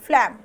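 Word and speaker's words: phlegm: फलम क्या है फलम यह जी साइलेंट है यहां पर ध्यान रखेंगे फलम यह कटार और यह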